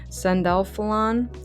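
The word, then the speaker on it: Sandalphon: Sandalfon, sorry I always say that name wrong.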